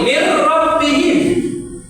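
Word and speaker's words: مِن رَّبِّهِمْ: Nih, mir rabbihim. Langsung ke roh. Nun sukunya tidak dibaca.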